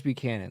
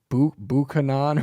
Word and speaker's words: Buchanan: or James Buchanan James Buchanan they tried pronouncing his name and he was like he said like bu banan or some dumbass [